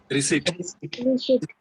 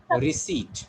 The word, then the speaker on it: receipt: Yes, this letter P is silent here.